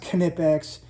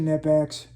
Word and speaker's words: Knipex: Knipex is, I know it's pronounced Knipex, but I pronounce it Knipex.